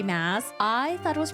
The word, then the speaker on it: Maas: Maas. I thought it was pronounced Sarah J. Maas. This entire time I was like, oh, her name is Sarah J. Maas, but it's really Sarah J. Maas.